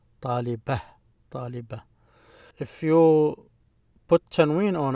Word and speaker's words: طالبة: So when you stop at it and it's not connected to anything, we just pronounce it as ha. طالبة.